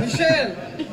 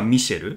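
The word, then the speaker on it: Michelle: もたくさんあって例えば英語だとま男性がマイケルで女性がミシェルフランス語は男性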